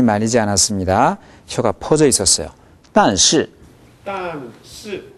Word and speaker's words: 但是: 단시. 단시. 네, 좀 빨리 해볼까요? 그러나는 그렇게 강조되는 게 아니니까. 단시. 단시. 아, 단시. 단시. 네, 아무리 짧게 해도 주요 모음이 길어야 합니다.